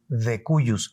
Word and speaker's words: de cujus: Al difunto al que nosotros, en términos jurídicos, le llamamos el decuyus. Se escribe de cujus con J, pero decimos decuyus, es un latinajo.